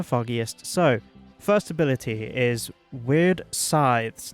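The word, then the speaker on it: Wyrd: So, first ability is Weird Scythes. Now, it's W-Y-R-D, so weird, yep.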